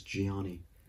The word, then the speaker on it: Gianni: the interviews were like yeah gianni gianni i thought they were saying johnny so i thought his name was johnny and i was like that's a weird coincidence considering johnny the character hates him it's like he hates himself because he hates johnny but it is gianni dikenzo or dichenzo i